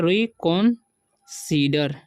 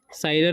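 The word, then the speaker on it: reconsider: यहाँ पर लिखा हुआ री कॉन्सीडर, ठीक है, इसे पढ़ेंगे री कॉन्सीडर, साइडर नहीं पढ़ना, ठीक है, री कॉन्सीडर।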